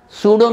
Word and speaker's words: pseudo: spelling is p s e u b o sudo means false his secularism is sudo sudonim pseudonym